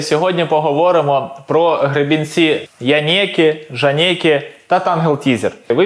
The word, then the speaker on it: Janeke: дивіться оцей янеки так Воно читається як янеки бо це якась італійська фірма і мене в тіктокі просто за хейтила за то що я кажу жанек але мені так зручніше але правильно казати янекі що таке Це янекі